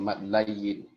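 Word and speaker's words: mad lin: Pengucapan madlin atau madlayin? Ya, maka beliau mengucapkan madlin saja. Ya, madlin saja. Maka sami'na wa ata'na, ustaz. Kita sepakat madlin saja. Ya, meskipun ada istilah lain madlayin.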